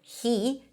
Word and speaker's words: he: The word he is pronounced with an H and a high E. He. Well, when it's unstressed or in the middle of the sentence, which is usually the case, we drop the H and we just pronounce it as E.